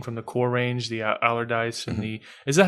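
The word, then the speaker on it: Allardice: of resubmitted everything from the core range the allerdyce and the is that how you pronounce that yep okay cuz I know a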